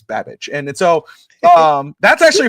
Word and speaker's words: Babich: Bobby Babage, right? Or you know, uh I think that's how you say it. It sounds like Bad but it's Babich.